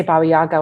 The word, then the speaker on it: Baba Yaga: I just say Baba Yaga when I'm speaking in English, Okay.